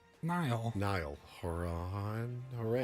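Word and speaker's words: Niall: guy's name n NY Nile Horan hor not Niles Nile just Nile n like like the river in Egypt right but it's spelled differently Nile haran he was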